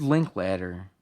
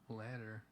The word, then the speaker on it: Linklater: Richard Linklater? No, you're right, yeah. Ladder. yeah, he did. It's spelled like later. Linklater, but Oh, like but I could see how it could be I ladder.